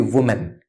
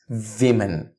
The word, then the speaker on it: women: or more than two it won't be women it's women one woman two or more women so the wo is not pronounced as woo it's V so you may replace it by the word V and say men V men one woman two women that's the correct correct pronunciation I work at a